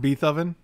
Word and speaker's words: Beethoven: beethoven was pretty cool it's pronounced beethoven would you rather eat